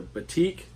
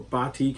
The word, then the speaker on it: batik: So the matrix, of course, is the single gene form of the ivory, and then the batik or batik, however you want to pronounce it.